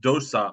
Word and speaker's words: dosa: mind is without aversion this term pronounced Dosa or vasha is aversion or anger